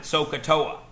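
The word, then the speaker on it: SOHCAHTOA: we talk about this this is a fake word it means nothing every math teacher since the dawn of time has been using this fake word we pronounce it soaa when I was in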